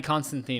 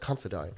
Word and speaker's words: Considine: Patty Constantine is King Viseras. Considine. Oh, is that how it's pronounced? It's pronounced Considine.